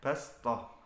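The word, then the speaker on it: بصطة: Jadi tulisannya bastoh, bacanya bastoh. Tulisannya wayab sud, bacanya wayab sud.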